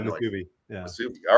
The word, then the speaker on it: musubi: Is it Wasubi? Is that how it's pronounced? Yeah, Musubi.